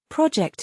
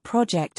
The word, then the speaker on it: project: your name as well project it loudly. One more time. Now in this case we are not talking about project as in a noun but it's used as a verb.